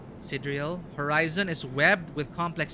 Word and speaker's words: sidereal: Did I pronounce it? No, sidereal.